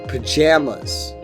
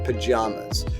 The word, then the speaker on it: pajamas: number four is pajamas in Midwestern states and western states you'll find that a in pajamas is pronounced like jam so pajamas but spend time in any southern or eastern state and you'll hear that a is and father pajamas pajamas is the way to say it and if you say